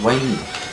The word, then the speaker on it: Wynd: pardon me h of the wind it's no pronounced wind it's wind w y n d and what that actually